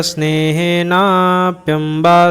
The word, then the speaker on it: स्नेहेनाप्यम्बा: ये संधि में नहीं कर रहा हूँ, बस आपको उच्चारण की दृष्टि से बतला रहा हूँ। आप स्नेहे नाप्यम्बा स्तुतिः इस तरह से आप पढ़िएगा।